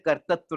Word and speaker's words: कर्तृत्व: शब्द जरा उच्चारण करना सीखिएगा, बहुत अच्छा शब्द है, आपको मिलता है कहीं भी। कर्तृत्व, है ना, ऊपर भी रह है, नीचे भी ऋषि वाला रह दिया हुआ है।